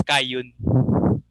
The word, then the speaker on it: Kain: It's pronounced as Kayun.